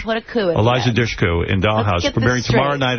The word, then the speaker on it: Dushku: We're here with Eliza Dushku in Dollhouse, premiering tomorrow night. How do you pronounce P-U-S-H? Push. Okay, so add a D and then put a coup in Eliza Dushku in Dollhouse, premiering tomorrow night at 9 o'clock on Fox.